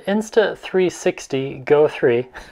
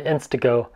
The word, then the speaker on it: Insta360 GO 3: Anyway, this is my Oakley hard case for my eyeglasses, and it just so happens that the Insta360 GO 3. I said it right that time, not the InstaGo.